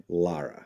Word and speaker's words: Lara: You told me earlier it was like like guara. Lara. Yes. Yeah. Love it. I love it. That's really the only thing I know that rhymes with it.